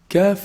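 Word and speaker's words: كاف: from the mouth off calf is pronounced from the back of the tongue but it's actually closer to the mouth from the path articulation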